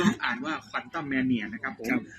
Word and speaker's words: Quantumania: แนุ มา อ จริง ๆ ก็ อ่าน ว่า quantum mania นะ ครับ ผม ก็ ภาพยนตร์ บาง ค บาง